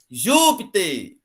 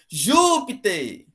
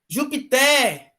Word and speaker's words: Júpiter: Se eu deslocar, se eu disser assim, por exemplo, ó, gente, eu errei aqui, a palavra Júpiter, ela tem a última sílaba mais forte. Aí você vai pronunciar assim, ó, Júpiter, Júpiter.